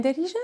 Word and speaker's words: dari: For example, to say my house, you say dari. Da ri. You add the e sound at the end.